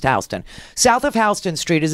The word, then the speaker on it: Houston Street: Houston Street okay it spells Euston but it's pronounced Houston south of Houston Street is it it used